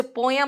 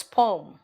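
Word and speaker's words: poem: जैसे पोयम नहीं बोलते, इट्स पोम, है ना.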